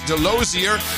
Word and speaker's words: Delosier: with smoking hot wife Denise delosier uh rhymes with enclosure Delia there we go